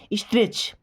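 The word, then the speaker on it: stretch: स्ट्रेच यहां पे भी टी साइलेंट है। मैंने क्या बोला था? सी एच के पहले जब भी टी आएगा तो साइलेंट रहेगा।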